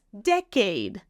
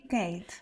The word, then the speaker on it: decade: then for 10 years syllable stress decade decade decade no syllable stress on the first one deade I've spent in fil Tech spent a decade in film industry decade decade like a deck of cards a deck of cards decade decade there we go I